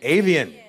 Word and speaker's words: Avian: indeed he's here to perform a mash-up of avian am i pronouncing that right cool you oh no you just can all see say it again avian and aquarium both songs from his top-ten album